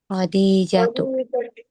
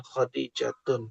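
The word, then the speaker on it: خَدِيجَةُ: Khadijatu, Khadijatu. Bukan Khadijatun.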